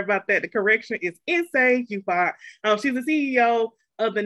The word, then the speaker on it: Nsé Ufot: The correction is Inse Yufat. She's the CEO of the National Georgia Project. Her pronouns are she, her, and shawty. Inse? Hi, peace everyone. Inse Yufat, chief bottle washer, beggar and chief train conductor